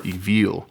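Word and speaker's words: Aoibheall: So this one, it's spelled like Iabel. There's an Irish saying that's a little crazier, but it's pronounced Evil or Evil.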